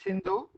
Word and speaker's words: Sindhu: indus valley you know we call it sindhu and foreigners uh they could not pronounce it shindo properly so they call it indos so the civilization is